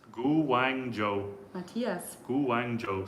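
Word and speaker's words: Guangzhou: goes my Mandarin sessions already someone Matias says gang Joo gang Joo is how it's pronounced gu Wang Joo Matias Guang Joo says Matias that's very helpful thanks um thank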